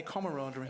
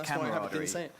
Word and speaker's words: camaraderie: that term a lot camaraderie yeah I can't even say it I say it wrong I say camaraderie well you're saying it wrong it's camarad so that's pretty exciting I